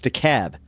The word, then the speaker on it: DeKalb: It's DeKalb. That's so... It's spelled the same way, DeKalb County.